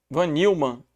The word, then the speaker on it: von Neumann: conhecida como arquitetura de von Neumann é assim a pronúncia vanilma é assim a escrita então os dispositivos de